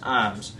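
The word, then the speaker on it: Iiams: it the alabama family is ij ams it's pronounced ims they came from cornwall in in the uk in 1665.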